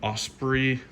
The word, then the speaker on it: Osprey: these hiking style backpacks always do really good Osprey that's how you pronounce it the brain on this one great